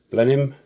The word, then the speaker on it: Blenheim: England and some of the planes like the Blenheim not the blen Heim as I've heard it's pronounced mine called Fokker walls mr.